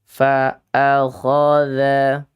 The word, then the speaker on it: فَأَخَذَهُ: Kesalahan yang fatal karena dha dibacanya da. Fa'akhadha.